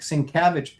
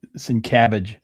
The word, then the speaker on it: Sienkiewicz: Well, maybe if you said it right and you didn't say Sienkiewicz. I didn't say Sienkiewicz. I said Sienkiewicz. It's Sienkiewicz. Sienkiewicz.